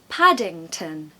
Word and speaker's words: Paddington: There's a short A there, very quick A in the back of the throat. Pad, padding, ing. There's your nasal sound. And of course we have a schwa, which is the sound so it's un. The last syllable is un.